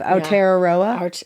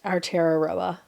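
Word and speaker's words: Aotearoa: think we've had to say that before have our teroa our teroa our teroa I did it uh for clarity thank you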